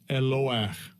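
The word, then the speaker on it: Eloah: Here's the pronunciation. Strong's H 430, entry 1. Eloach.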